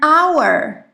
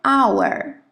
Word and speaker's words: hour: If the H is silent, we will use A-N. Si la H es muda, escribiremos N. For example, an hour.